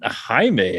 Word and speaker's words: Jaime: jamie navarro but i i think it might have been jaime i think like i think that that'd be the correct pronunciation but we were just you know we're just like stupid americans we're just going j yeah jamie so uh gary